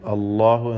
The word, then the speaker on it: الله: فما يكذبك بعد بالدين ELISA അല്ലാഹു, അല്ലാഹു എന്ന തഫ്ഖീം ചെയ്തുകൊണ്ട് ലാമിന ഉച്ചരിക്കുമ്പോഴുള്ള ആ ശബ്ദം പ്രത്യേകം ശ്രദ്ധിക്കുക, മഖ്റജ് മാറിപ്പോവരുത്. ബി അഹ്കമിൽ ഹാകിമീൻ, ഹാഇൻ്റെ ഉച്ചാരണം പ്രത്യേകം ശ്രദ്ധിക്കുക.